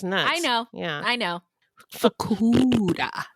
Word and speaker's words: Fukuda: Fakuda. Fakuda. It's like Barracuda.